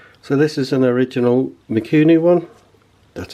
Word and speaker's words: Mikuni: So this is an original Mikuni one, that's how you pronounce it.